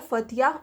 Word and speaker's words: Phthia: ये मोनली इंपॉर्टेंट नहीं है बहुत ज़्यादा याद रखना कि कहाँ का राजा है, तो बट याद रखिएगा फथिया, स्पेलिंग इसका है PHTHIA, ठीक है।